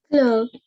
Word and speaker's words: fleuve: It is called, pronounce it, Fleuve.